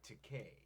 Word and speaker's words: Takei: This dude says it's Takei. That's right, Takei. I'm sorry, I spelled it The Takai. least you can do is pronounce my name right.